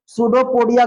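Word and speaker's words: pseudopodia: अब तू कहेगा कि सर सूडोपोडिया का स्पेलिंग आप पी से शुरू कर दिया, माने कि गलत है। तो सूडोपोडिया का स्पेलिंग पी से ही शुरू होता है।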